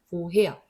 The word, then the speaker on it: woher: 그런데 얘도 모음 뒤에 나왔는데요. 자, 요거는 원래 뭐라는 단어가 있고 그 다음에 헤어라는 단어가 있는데 같이 합해가지고 새로운 단어를 만든 거예요. 보헤어. 이런 애들은 원래 출신을 우리가 존중을 해준다. 안 그러면 어떤 단어가 합해가지고 이 단어가 됐는지 모르니까 살려준다라고 하는 거죠. 그래서 요거는 뭐해야 이렇게 말합니다.